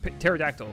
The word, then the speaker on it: pterodactyl: Pterodactyl. The P is silent. Pterodactyl.